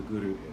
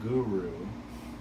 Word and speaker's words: Guru: And now, be very careful when you're pronouncing it, that it's not Guru. It's not like my spiritual guru, my fitness guru. My gardening guru. It's Guru, Guru, Guru.